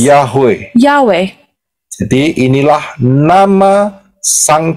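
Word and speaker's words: יהוה: you read it as Yote Wow He. Dan pengucapannya adalah And the pronunciation is Yahweh.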